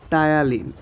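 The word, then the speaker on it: ptyalin: যেমন টায়ালিন, টায়ালিন এরও কিন্তু পিটা উচ্চারণ হচ্ছে না।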